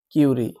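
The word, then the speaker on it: curie: অনেক সময় কিউরি দেয় না, কুড়ি দেয়, ফুলের কুড়ি না কি, কিউরি, অ্যাকচুয়ালি কিউরি উচ্চারণ হয় ওই জায়গাটা, কিউরি।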